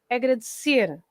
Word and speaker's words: agradecer: Okay, so first of all, the word agradecer ends with an R, right? Okay. So when the word ends with an R, like agradecer, we stress the end. So it's agradecer at the end.